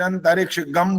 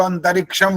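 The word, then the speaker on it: अन्तरिक्षं: का ओम देव शांतिर अंतरिक्ष गम बोल देते हैं कुछ लोग गम गवन नहीं बोल सकते गव नहीं बोल सकते तो अंतरिक्षम बोलना चाहिए बस जो चंद्र बिंदु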